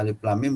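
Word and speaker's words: الم: Misalnya kaf ha ya alif lam mim, harus baca alif lam mim, dia baca alif lam ma gitu misalnya ya.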